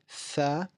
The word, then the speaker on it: ث: So looking at tha, like I said before, it is like pronouncing the th in the word teeth. It's a soft th.